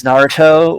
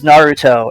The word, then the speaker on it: Naruto: as Sasuke for Naruto, why was he the only character who pronounces Naruto with an alveolar trill? Like, everyone says Naruto, except for Sasuke, who says Naruto. Like, he pronounces it, like, slightly more correctly than all the other characters.